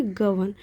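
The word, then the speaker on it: govern: गवर्न का मतलब हो गया कि, अब यहाँ पे आर साइलेंट होता है, इसे क्या पढ़ेंगे, गवर्न।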